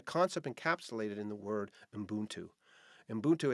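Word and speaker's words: ubuntu: years it's a concept encapsulated in the word umbuntu in buntu it's spelt u-b-u-n-t-u it's but it's pronounced umbutu is a philosophy that came to have special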